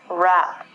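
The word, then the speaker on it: wrap: what is the W the W with the R it overpowers it we don't say the W and we say this word rap there are two meanings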